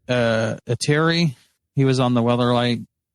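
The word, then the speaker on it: Ertai: Ateri. He was on the Weatherlight. Didn't he die? No, he got Phyrexianized. Airtie. Yeah, Airtie.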